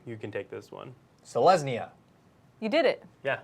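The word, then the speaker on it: Selesnya: what hey what do we have next to pronounce another guilt Andrew you can take this one so lesney yeah you did it yeah this is like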